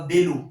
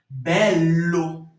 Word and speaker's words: bello: Bello. Bello. Giallo. Giallo. Donc, c'est ce que je voulais que vous remarquiez. Parce que lorsqu'il y a une double consonne dans un mot, la prononciation est toujours étirée.